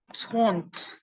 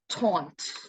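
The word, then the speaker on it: trente: you 30 right 33 0 so it's like taunt yeah I know it's like the spelling is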